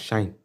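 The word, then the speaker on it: sinh: It's pronounced as shine.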